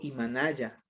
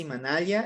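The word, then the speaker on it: Imanalla: Vamos con otro que es Imanaya o Imanaya, ¿ya? Yo digo Imanaya, pero si usted dice Imanaya, está muy bien.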